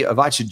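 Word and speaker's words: Ivica: I say Avacha Zubac. I never know how to say his first name properly, mate. Tell us a little bit. Avika. Yeah, it is Avika.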